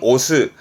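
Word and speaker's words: 推す: 루이스 이까지 자주 보여질 부분이 있습니다 동사로 쓰면 발음은 오스 스라고 하면 여러분들 많이 떠오르시는 건 요거 요거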